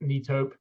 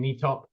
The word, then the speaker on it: Netop: learned a lot about neop uh even how to pronounce it I was saying knop um yes it's a